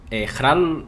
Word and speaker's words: Jarl: Hral, sí que es verdad que pronunciado con la J de la garganta me gusta mucho más que Jarl, como se diría tradicionalmente en noruego, ¿no?